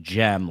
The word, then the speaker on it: Cem: Uh, so this guy's name is Sem Mutlu, but it's pronounced gem, like a like a gemstone, and it's spelled either way, cem, but it's mu t-lu.